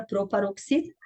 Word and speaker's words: proparoxítona: Então, a palavra proparoxítona é uma proparoxítona. Por quê? Porque a antepenúltima sílaba dela é a mais forte.